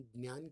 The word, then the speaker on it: ज्ञान: आपको थोड़ा अलग लगेगा, मराठी में ज्ञान कहते हैं, हिंदी वाले इसे ज्ञान कहते हैं, लेकिन इसका मूल उच्चारण ज्ञान है।